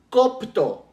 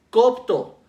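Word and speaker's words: κόπτω: otra palabra griega que se llama copto copto igual con acá y con el acento en la primera o que dice el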